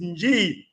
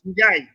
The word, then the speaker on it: Njai: Because everybody pronounces it Nji, but you pronounce it as Njai.